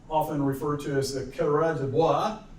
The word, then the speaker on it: coureurs de bois: refer to as the coureurs de bois, right? Although I did hear one of my history professors once call it the coureur de bois, all right? The Oklahoma pronunciation.